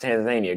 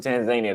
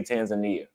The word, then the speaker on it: Tanzania: Rockstar Joe, Tanzania is pronounced Tanzania. Go ask somebody from Tanzania. They won't say Tanzania. Americans say Tanzania. Tanzanians say Tanzania.